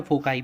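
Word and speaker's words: foci: फोकाई बोलते हैं, कभी प्रोनाउंसिएशन इसका फोसी भी बोलते हैं या फोकाई बोलते हैं मोस्टली.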